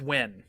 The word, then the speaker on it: Nguyen: No, I thought you meant the NGUYEN, the Wayne. No, that's Win, right?